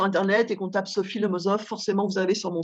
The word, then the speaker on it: Lemosof: Lemozov, ça s'écrit Lemossof. Et quand on va sur Internet et qu'on tape Sophie Lemozov, forcément, vous avez sur mon site.